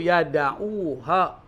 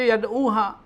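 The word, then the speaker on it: يدعوها: Falam yadauha bukan yadu di situ yadauha dari kata wada'a bukan daa lainnya gini. Kalau orang enggak ngerti artinya dibaca yaduha. Ini bacanya yadauha dari kata wada'a yadau meninggalkan membiarkan.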